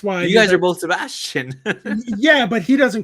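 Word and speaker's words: Sebastián: But that's technically how you say the name in Spanish, Sebastian.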